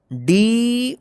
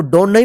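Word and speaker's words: done: जाए इसको पढ़ेंगे सम डी ओ एन ई इसको डो नहीं पढ़ेंगे क्या पढ़ेंगे डन तो ध्यान रखिएगा कम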